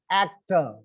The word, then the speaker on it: actor: Still, the stress is on the first syllable, actor, right?